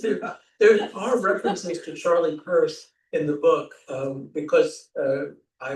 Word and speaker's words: Peirce: That's her, and he pronounced it Peirce, Charles Peirce.